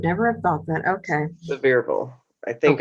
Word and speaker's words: Sevierville: It is French, but in Tennessee, it's Sevierville. Oh, my Lord, have mercy. I would never have thought that. Okay. Sevierville.